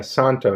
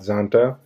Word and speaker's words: Szanto: a watch from the Santo Brant and this is actually pronounced the Santo not Zonta as you can see the Z is silent it's a vintage styled